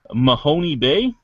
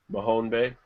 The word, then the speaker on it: Mahone Bay: Company is going to be opening up in Mahoney Bay Nova Scotia Mahone Bay yeah see I it's it's right next to